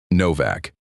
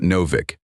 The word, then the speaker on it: Novak: And you say his name, right? Novak. It's not Novik.